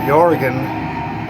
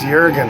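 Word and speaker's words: Jürgen: She said, it's not Jorgen, it's Jurgen. I said, oh, so maybe she's right. She grew up in Germany, she should probably know.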